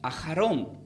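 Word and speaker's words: אחרון: la palabra lo último, se pronuncia como ajarón, que tiene una raíz de la palabra ajar.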